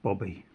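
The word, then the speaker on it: Bube: So a Jack in a German pack of cards is called a boob. B-U-B-E. Now it's pronounced Bobby.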